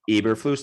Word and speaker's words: Eberflus: How do we actually pronounce our new head coach's name? That's what I'm Eberflus. The flus is loose.